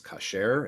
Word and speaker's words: kosher: ashkenazi oriented synagogues so the modern hebrew pronunciation is kasher instead of kosher the basic meaning of